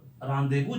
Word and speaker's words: rendezvous: India में रानदेबू बोलते हैं इसको। रानदेबू एक्चुअली करेक्ट प्रोनाउंसिएशन होता है।